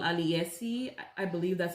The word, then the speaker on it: Aliyesy: This hair was sent to me by a company called Aliyesy.